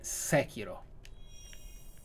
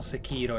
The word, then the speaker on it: Sekiro: La pronuncia è Sekiro. Non Sekiro, eccetera.